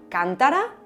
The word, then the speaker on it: cántara: Por ejemplo, existía cántara, cantara y cantará. Pues para la que tenía la fuerza en la última sílaba, propuso usar el circunflejo. Para las que tenían la fuerza en la penúltima sílaba, marcarla con el acento agudo, y las que la tenían en la antepenúltima sílaba, también con el acento